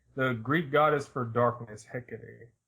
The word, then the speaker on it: Hecate: H used to mean tell us however you pronounce hey Hecate pick it to the greek goddess for darkness Hecate hey Kate Hecate yeah okay hey it was it was